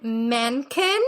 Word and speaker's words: Menken: Music and lyrics are by Alan Menken.